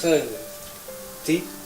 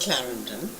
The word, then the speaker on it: Clarendon: Carla D no no no if you're going to say it properly you must say mrs. Clarendon would you care for a cup of tea sorry I'd say again mrs.